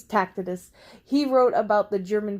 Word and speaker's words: Tacitus: I think it's Tacitus.